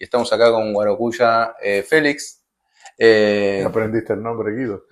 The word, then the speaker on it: Guarocuya: Sí, que en realidad es Guarocuya. Yo digo Guarocuya porque, bueno, en Argentina pronunciamos así.